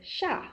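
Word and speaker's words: 夏: So this is the next word pair character pair is sha. Sha means summer. Sha tin summer. Now sha is pronounced the same way as sha as in down.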